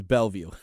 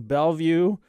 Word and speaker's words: Bellevue: It is Bellevue. Bellevue, Kentucky. Bellevue, Kentucky. So of all the names you want to pick for some unique place in Kentucky. Coming to you straight from Bellevue, Washington.